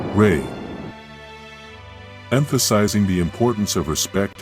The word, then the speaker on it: Rei: Pronounced, rei.